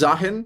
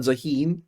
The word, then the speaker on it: Zaahen: I'm pretty sure the pronunciation Zah, not Zaheen because Zaheen is like more like an Arabic version where you have like two E's. Having one E probably means like it's Zahan or Zahan, something like that.